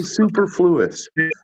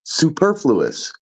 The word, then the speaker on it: superfluous: the way it flows four on the second syllable Cadence Cadence is the word you're referring a lot of people say Superfluous that is not how it's pronounced it's Superfluous bu bumpa bump all